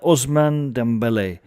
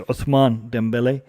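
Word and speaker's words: Ousmane Dembélé: topic is surrounding uh osman dembele um or the way we should actually pronounce it is uthman dembele um so he is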